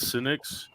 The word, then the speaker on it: Senix: Is it Senix? Yes. Okay. I don't know if there was some kind of weird pronunciation, but we have the fellas here from Senix Tools.